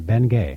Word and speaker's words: Bengay: they changed the spelling so Americans could could pronounce it right and that was his last name Ben Gay right H and also Salsbury steak is named